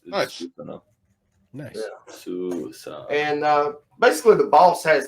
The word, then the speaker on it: Susanoo: How do you say that properly? Susanoo of Susanoo. the Japanese storm god. It's Susanoo.